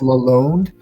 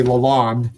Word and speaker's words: Lalonde: my boards, but that's his last name is actually spelled Lalonde, but it's pronounced Lalonde. So when I look down, I just write it Lalonde because I don't want to say Lalonde and mispronounce his name.